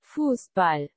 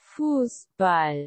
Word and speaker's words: Fußball: Fußball. Yes, let's. Fußball. That's amazing. And if you want to say, I kicked the football, and let's just say at the window, you can say. Ich habe den Fußball gegen das Fenster getreten.